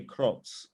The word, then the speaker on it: Kroc: people like ray kroc ray kroc we would pronounce it actually ray krocz he's the founder of